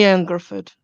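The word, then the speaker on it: Ioan Gruffudd: Ian Gruffudd.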